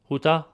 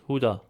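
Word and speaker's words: Յուդա: Then we have the name Judah or Jud, which in Western Armenian it's Hutah. In eastern Armenian it's Huda.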